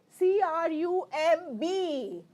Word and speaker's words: crumb: are m is that clear okay same way c r u m b Okay C Ru M Crum crumb crumb no